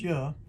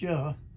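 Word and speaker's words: Yah: first two letters which y h will be sounded yeah it's pronounced yeah and and and it's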